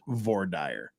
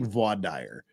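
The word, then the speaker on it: voir dire: of you judge but we both know in our heart of hearts it's pronounced V dire but I'll take I'll take VA dire just to to keep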